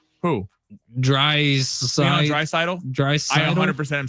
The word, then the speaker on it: Draisaitl: Draisaitl. I 100% am saying it right because I've watched a gazillion of his games, and sadly, he's cooked my team. All right, so Draisaitl, more than 9 faceoffs.